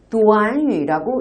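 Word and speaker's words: 短语: 근데 이 구가 한국어로는 구지만 중국어로는 구가 아니라 도안유라고 읽힙니다. 다 함께 도안유.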